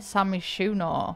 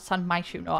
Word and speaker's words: San Myshuno: So starting in San Myshuno. Why did I pronounce it like that? San Myshuno.